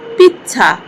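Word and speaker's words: pizza: পিজ্জা এর Italian শব্দ হবে পিচ্ছা।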